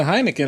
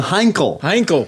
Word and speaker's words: Heinkel: building a Heineken, or how do you say it? A Heineken? Heineken. A Heineken. A Heineken? Heineken? It's a Heinkel. Heinkel.